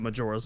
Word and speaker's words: Majora: That just made me think of that, which was funny, because she said Majora in person. Well, even Nintendo pronounces it Majora's Mask.